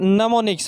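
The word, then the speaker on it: mnemonics: NEMONICS, ये नमोनिक्स।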